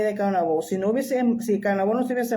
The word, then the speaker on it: Caonabó: O sea, los hijos de Anacaona y de Caonabó, si Caonabó no se hubiese muerto en el trayecto a Europa, y si, porque vuelvo y repito, se dice Caonabó, no Caonabo, pero ya es difícil